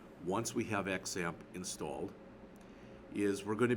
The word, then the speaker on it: XAMPP: instead of calling this xamp which is what I call it they call it zamp the x is pronounced like a z like in xylophone but sometimes you see